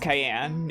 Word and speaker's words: Cyan: It is pronounced Cayenne. In Japanese, his name is spelled all the way out like the pepper.